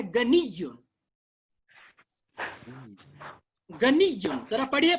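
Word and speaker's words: غنيّ: ये गनीयुन जो या है इसके ऊपर, इस या के ऊपर आखिर में तशदीद है, इसको पढ़ना है गनीयुन.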